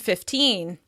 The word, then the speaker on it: fifteen: Consider how we stress fifty and fifteen. Five zero is stressed on the first syllable: FIFty, FIFty. One five is stressed on the second syllable: fifTEEN, fifTEEN.